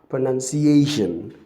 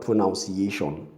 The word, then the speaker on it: pronunciation: And then you now have pronunciation, not pronunciation.